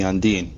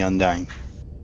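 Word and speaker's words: Undine: beta quadrant yes Edwards they are called the undan not the undying oh my gosh I had no idea oh my gosh I can't believe I've been saying their name wrong the whole time all right undan not undy UND well I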